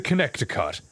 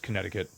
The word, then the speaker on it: Connecticut: Kansas right next to Connector Cut. Yeah, I I know. Yeah, I thought I didn't realize it was uh pronounced Connecticut for ages.